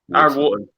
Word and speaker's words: Aaron Wharton: I'm going to say the H is silent and it's Aaron. Aaron, there we go. What is the H silent in the second one as well? Aaron Wharton.